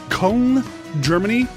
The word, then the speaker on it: Köln: to get it wrong, Köln, Germany. It's spelled Cologne, but Köln, Germany.